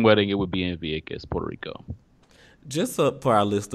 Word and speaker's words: Vieques: google purchase yeah but the Spanish pronunciation is be a kiss because B instead of V so locally they call it Vieques America probably gonna call